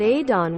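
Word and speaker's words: Odhrán: But Adon with a soft D, leaning towards TH, and a long, deep, round in from the fada, accent mark on the second with the emphasis on the second part. Don. Sometimes the ow leans toward ee, but he'll want it more I, or a. It's the Gaeilge, relative to Aiden in the English.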